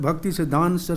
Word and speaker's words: Bhaktisiddhanta: man's parabolic arch are a 1:08 sri srimad bhaktisiddhanta so the goswami maharaj prabhu pod this is the way to pronounce the name of this spiritual master or